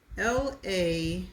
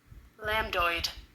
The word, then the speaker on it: lambdoid: And the last word is LAMBDOID. And this is how it's pronounced? Lambdoid.